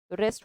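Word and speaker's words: wrest: है खींचता ही है रेस्ट वर्ड यह रेस्ट वो नहीं है डब्लू वाला है डब्लू साइलेंट है यह रेस्ट आराम होता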